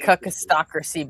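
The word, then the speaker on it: kakistocracy: It's K A K I S T O C R A C Y I like cakistocracy better. I need to ruled by spell it with three K.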